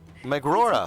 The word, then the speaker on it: Megrora: It is Megrora, I will say. Megrora? Yeah. Megrora.